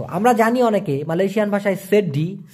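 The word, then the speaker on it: sedih: হলো দুঃখগ্রস্ত গ্রস্থ আমরা জানি অনেকে মালয়েশিয়ান ভাষায় সেড্ডি সে ডি উচ্চারণটা হবে ছয়কার ডরশি হ সেড্ডি মানে হচ্ছে দুঃখ বা দুঃখী স্যাড ইংলিশে যেটা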